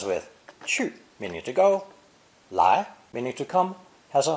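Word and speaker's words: 来: harvested basically it was borrowed for its sound in the spoken language pronounced second tone lie lie however the original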